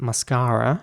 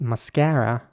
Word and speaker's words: mascara: In British English, they're basically all R's. All the A's in this word are pronounced as R's.